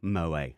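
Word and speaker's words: Moët: So, yeah, everyone's, the T is silent. So, yeah, Moet.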